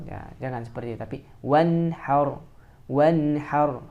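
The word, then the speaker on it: وانحر: Jangan wanhar. Ya, jangan seperti itu, tapi wanhar. Wanhar. Hanya juga harus yang keluar dari tengah tenggorokan.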